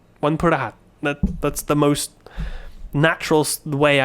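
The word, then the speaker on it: วันพฤหัส: ส บ ด ี but the pa just becomes like พ ฤ just p ว ั น พ ฤ ห ั ส. Try saying it like that. ว ั น พ ฤ ห ั ส ว ั น พ ฤ ห ั ส ว ั น พ ฤ ห ั ส. Then most people don't stress the pa like I'm saying.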